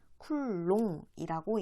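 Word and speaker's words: Coulomb: 쿨롱이라고 읽어. 프랑스 말로 쿨롱이라고 읽어. 프랑스 사람이야.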